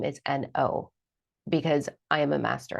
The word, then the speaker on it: No: My legal last name is N-O because I am a master at that word. That's not why, actually. Well, it isn't. It's not. Like, the pronunciation of my last name has always been no.